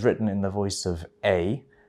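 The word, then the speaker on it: Aedh: So this poem is written in the voice of A. It's an Irish name. It's spelt A-E-D-H, but it's pronounced A.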